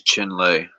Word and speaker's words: Chinle: the chin lay formation Chinle I might be saying this wrong this how you spelled it I'll put it in the chat think oops I think it is chin lay that's how you spell